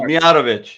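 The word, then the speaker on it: Mijatović: Movic Movic was better that's movich mov yeah no movich movich oh my gosh okay Shane says he's got so it's movich I know I butchered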